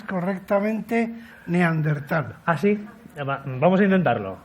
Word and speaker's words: neandertal: Ahora solamente te falta que pronuncies correctamente neandertal. ¿Ah, sí? Vamos a intentarlo. A ver. Neandertal.